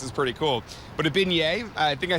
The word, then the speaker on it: beignet: But a beignet, I think I said it right, Yep.